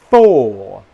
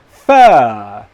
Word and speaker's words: four: Four. The other word, fur, fur, fur.